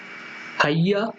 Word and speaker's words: Hagia: पहले तो स्पेलिंग गलत हो गया शायद, HAGIA है, हैया पढ़ते हैं, HAGIA है, हैया पढ़ते हैं, हागिया नहीं पढ़ते हैं, याद रखिए, हैया पढ़ते हैं, हैया सोफिया मॉस्क्यू।